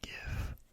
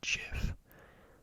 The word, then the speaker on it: GIF: you pronounce and give i say give i've i've never met anyone who says jiff uh because if it was jeff i feel like it would be a j like it says right